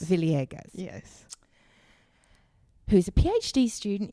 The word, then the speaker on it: Villegas: Why don't you jump in and say your name the way you pronounce it? Okay. Yeah. Oh, okay. Villegas. Villegas.